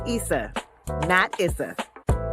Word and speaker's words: Issa: and right now I'm using ESA's voice which is pronounced Issa that is this how